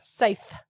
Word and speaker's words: scythe: Scythe.